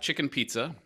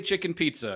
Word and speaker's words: Chichen Itza: So we are starting with Chichen Itza.